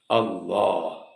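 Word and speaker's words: الله: ബഹുമാനവും ഉണ്ടായി കിട്ടാൻ വേണ്ടി വായനിറയെ ഉച്ചരിക്കുന്ന രീതിയിൽ ഒരു ഘനീഭവിച്ചുകൊണ്ട് അള്ളാ എന്ന് പ്രയോഗിച്ചതാണ് അവിടെ ലാമിന്റെ മഹ്റജിലാണ് നാവ് വെക്കേണ്ടത് ളാിന്റെ മഹ്റജിൽ അല്ല ഇത് പദത്തെ പറ്റി പറഞ്ഞതാണ് എന്നാൽ എന്താണ് അള്ളാഹു നിങ്ങൾ പറയുന്നതുപോലെ യഥാർത്ഥത്തിൽ അല്ലാഹു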